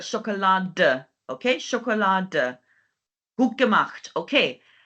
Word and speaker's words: Schokolade: So don't forget to pronounce the E slightly, not like Schokolade, but Schokolade.